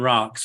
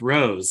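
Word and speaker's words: Rocz: And today I'm here with Rose, who I called Rocks for about the first 4 years that I knew him. So that's R-O-C-Z, pronounced Rose.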